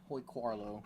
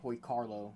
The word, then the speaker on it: Hoy Quarlo: got the old man Hoy quarlo Hoy Carlo I mean I just I always have the urge to say quarlo because it's how it's spelled but I'm gonna listen to the voice clip announcer this guy is like